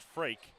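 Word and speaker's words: Freek: look at his name it's spelled freak f-r-e-e-k pronounced Frank and I'm not gonna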